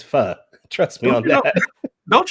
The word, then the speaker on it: pho: No, it's not pho. It's pho. The correct pronunciation is pho.